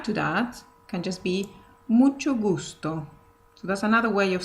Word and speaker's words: mucho gusto: So even though it's two words, you can say it like this. Mucho gusto. So it sounds more connected one to the other.